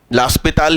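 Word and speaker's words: L'Hôpital: लास्पिताल ही सही प्रोनाउंसिएशन है, ध्यान रखिएगा।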